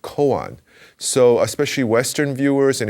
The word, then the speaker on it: koan: is pronounced kungan and in japanese it's pronounced koan so especially western viewers